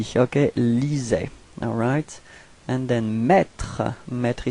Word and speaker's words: lisait: So remember what I said, you know, even if we've got so many letters, we don't pronounce them after AI. Okay, lisait.